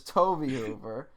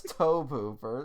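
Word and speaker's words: Tobe Hooper: lot of comments saying we pronounced toby hoover's name wrong yes we did and i was insistent to you that it was toby hoover and you're like no it's toe pooper so i just followed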